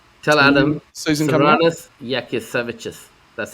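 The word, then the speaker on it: Jasikevičius: Yakisevichus. That's how you say it. Yasikevicius.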